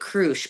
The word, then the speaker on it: Crush: He's been helping us out, and Kurt Crush, you pronounce it Crush, but that's his actual last name, and so he's been helping as well.